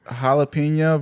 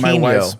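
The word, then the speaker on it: jalapeño: But my problem is like, why do you pronounce the J like that but not the N?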